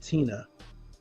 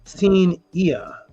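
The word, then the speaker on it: Tinia: It's not Tina. It is Teen-ia.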